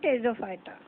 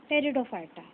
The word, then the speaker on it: Pteridophyta: P is silent in Pteridophyta. Subkingdom cryptogams is divided into three divisions, Thallophyta, Bryophyta and Pteridophyta.